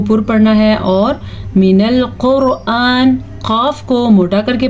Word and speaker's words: القرآن: البتہ قرآن ایسے نہ پڑھ لینا آپ کیونکہ یہ حمزہ ہے، عین نہیں ہے.